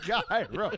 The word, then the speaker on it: gyro: it's pronounced gyro.